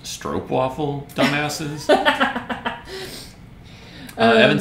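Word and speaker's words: stroopwafel: mean it's amazing uh but sean's like it's pronounced strobe waffle dumbasses uh evan says is this a commission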